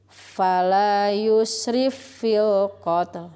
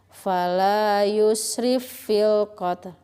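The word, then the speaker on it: فَلَا يُسْرِفْ فِي الْقَتْلِ: Cara membacanya yaitu fa yang pertama dimasukkan ke fa yang kedua dan ditekan. Fala yusrif fil qatl. Nah, itu ya. Fala yusrif fil qatl.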